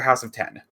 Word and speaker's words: House of X: Now, is it pronounced House of X or House of 10? I think it's House of X based on House of M.